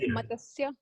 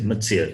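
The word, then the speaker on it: मत्स्य: can it be like matasya? Matsya. Yes, Matsya.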